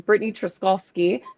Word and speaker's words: Brittany Truszkowski: Um, and I did not pronounce my name at the beginning. It is Britney Troskovski.